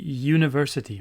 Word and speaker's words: university: Encore, ça commence par un son de y. On dit university.